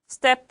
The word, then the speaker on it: stepped: 자, 방금 전에도 말했다시피 PED는 살짝 T 발음. stepped out.